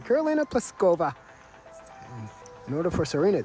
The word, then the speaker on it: Pliskova: Karolina Pliskova is the number one seeded women's tennis player, and we want that to ring throughout the broadcast.